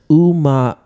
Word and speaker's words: ume: Okay, so ume is pronounced uma.